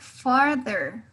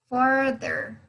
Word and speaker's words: farther: Then we have the word farther. Farther. Okay. Esa TH que tienen ahí ustedes va a sonar como una D. Farther. Ok. Su lengua va a topar los dientes de arriba, los dientes superiores.